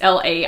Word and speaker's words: Laik: It's Laik. I always want to pronounce that a little bit differently.